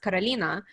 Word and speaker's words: Carolina: name um so because in russian it's pronounced carolina so i grew up